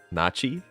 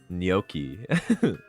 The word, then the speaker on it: gnocchi: Nachi? No, Nochi? Wait, isn't it like Nochi? Like no? I need to watch more cooking shows, man. Gnocchi. Oh, that actually sounds right.